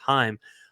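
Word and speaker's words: Chaim: I think it's pronounced I always call him shame but I think it's pronounced Heim um the guy who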